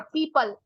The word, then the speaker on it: people: और ये है पीपल, हमेशा ध्यान रखना शनिवार को जिस पेड़ की पूजा करते हो प्रोनाउंसिएशन वही है पीपल।